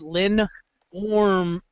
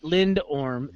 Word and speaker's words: lindorm: Now, it should actually be pronounced Lin Orm, not Lindorm. The D is silent.